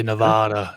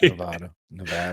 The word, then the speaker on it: Nevada: A lot of people say Nevada, and then the locals here hate that. So props to you for saying it right. Nevada.